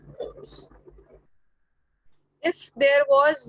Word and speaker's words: ohm: This symbol is called omega, but the pronunciation and the name of this quantity SI unit is ohm.